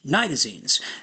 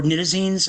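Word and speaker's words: nitazenes: expect to see is nitazines or nitazines. I've heard PhDs pronounce it both ways.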